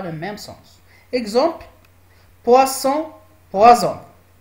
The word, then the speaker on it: poison: Exemple, poisson, poison. Comme vous voyez ici, la lettre S et la lettre, ça se prononce Z.